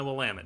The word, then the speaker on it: Willamette: The real question is, if we get all sorts of shays, will we also get our Willamette? That's how it's pronounced, mind you, and I want my Willamette, damn it.